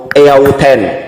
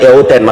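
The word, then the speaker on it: ἑαυτήν: hauto eto imasen au eauten. Nah, di sini bacanya eauten, makanya ada sebut oten ya.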